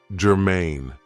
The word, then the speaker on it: germane: So, the first adjective I have for you is germane. Now, this is 2 syllables, and the stress is on the second syllable, germane.